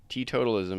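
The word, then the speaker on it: teetotalism: here we go AI T totalism is the practice or promotion of total personal abstinence from the consumption of alcohol I was the one adding the syllables in there t totalism yeah I guess I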